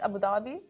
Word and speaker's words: Abu Dhabi: I say Abu Dhabi, but actually, isn't it like... It's Abu Dhabi. Abu Dhabi. Abu Dhabi. Abu Dhabi.